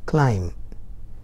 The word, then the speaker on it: climb: say climb but now m and b is coming nearby so we are supposed to read climb the bs understood and silent there let us get to